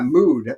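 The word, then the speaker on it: Müd: Yeah, Mood. It's spelled mud, M-U-D, with a little umlaut over the U.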